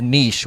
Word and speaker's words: niche: And those are to find your niche, which, by the way, is pronounced either way. Every time I say niche, I get comments about, it's actually pronounced niche. What are you, like? It is pronounced niche, but it's also pronounced niche.